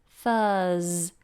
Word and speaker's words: Thursday: the awkward vowel sound ignore the letter R but we have a I'll show you this in a minute we have a Z sound surfers Thursday Thursday so thank and Thursday I'm